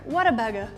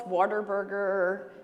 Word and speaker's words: Whataburger: It's what a burger. That's it. We have a People call us Waterburger. They don't know how to say it.